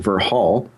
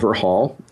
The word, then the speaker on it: Verhaal: company, which I called Verhaal. And Verhaal, I'll tell just a little bit of story about that. Verhaal is a Dutch word. It's spelled Verhaal, and it means story in Dutch.